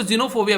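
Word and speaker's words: xenophobia: तो ये डर लगता है उनको, तो इसको जीनोफोबिया बोलते हैं।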